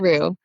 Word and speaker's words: Unruh: Is that how you pronounce it? Unruh.